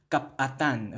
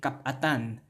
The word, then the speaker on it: kapatan: And that hyphen, remember the hyphen gives that internal pause, so kapatan, okay? Kapatan.